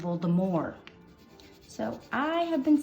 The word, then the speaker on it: Voldemort: But in France, they pronounce it more. So we should be saying Voldemort.